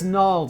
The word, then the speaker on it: gnarled: I know it's gnarled logic, but why must we have a silent G?